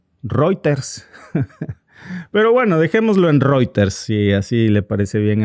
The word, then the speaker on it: Reuters: Dice Funam Funambulizar se pronuncia Reuters. Ah, cabrón. Bueno, eh pues una disculpa, como yo lo veo que es de inglés, pues no digo Reuters, digo Ruters o reuters.